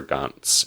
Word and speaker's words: Gantz: as them which is the titular Gant or or guns in the Japanese pronunciation so you're pretty much